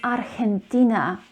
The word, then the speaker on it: Argentina: it's not argentina it's argentina argentina so the j is actually pronounced as her and one of the